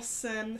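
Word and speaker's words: Syn: It's called Cardinal Sin. Sin being like the big word on it. It's spelled S-Y-N, not like Sin.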